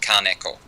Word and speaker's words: Kaneko: It's very, very flat Kaneko all the way along.